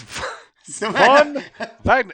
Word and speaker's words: Von Wagner: The W's are like pronounced as like V's in Germany.